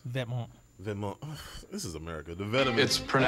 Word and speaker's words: Vetements: The vitamins. Vetements. This is America. The vitamins. It's pronounced.